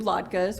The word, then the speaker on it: latke: We do latkes, which a lot of Jewish families do. What is it? Latkes, they're potato pancakes. Have you never Potato heard of a latke?